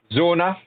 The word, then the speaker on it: Zona: I'll try and pronounce it correctly. Zona, so it's Z-O-N-A Alpha, which is the new